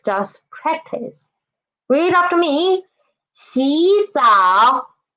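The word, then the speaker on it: 洗澡: So 洗澡, there are two third tones. What should we do? Change 洗 into 洗.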